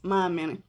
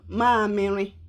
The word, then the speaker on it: mamịrị: The second one is mamịrị. Ụmụaka, children. Ụmụaka. Ụmụaka. Say it. Ụmụaka. Ụmụaka. I will spell it in English.